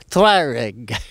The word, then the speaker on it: Tuareg: uh aprilia uh tuareg how do you pronounce that properly tuareg twyrig so we went for